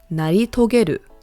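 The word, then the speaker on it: 成し遂げる: Again, how to pronounce it is naritogeru.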